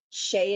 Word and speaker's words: Shay: Or is that she or Shay? I want to make sure I say it right. Yes, Becky, exactly. Yep. Hey, Donna. Shay, you got it, darling. Shay it is.